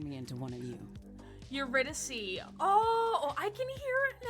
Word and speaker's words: Eurydice: Yeah, it's Eurydice. To be fair, I pronounce a lot of other words wrong.